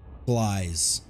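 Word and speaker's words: Gliese: Glies. That's how you say it. At least that's how the computer says it.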